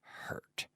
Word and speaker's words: hurt: on but just remember make sure that you're pronouncing the H sound properly hurt hurt okay very good